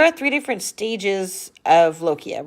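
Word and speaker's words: lochia: this word here called lokia This is actually I just wrote right over that this is actually pronounced like a k even though it's the CH but it's pronounced loia so what lokia is is the discharge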